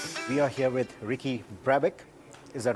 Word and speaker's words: Brabec: May twenty twenty we are here with Ricky Brabeck is that right yeah that's how you pronounce it he's the winner of the 2020